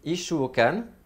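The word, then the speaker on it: 一週間: Donc en exemple, je vous ai mis Ishuokan. Ishuokan, ça signifie une semaine. I, petite sou, shu avec allongement, kan, Ishuokan, donc une semaine, pendant une semaine, le kan c'est pendant, hein. Donc pendant une semaine, Ishuokan ni terebi o, donc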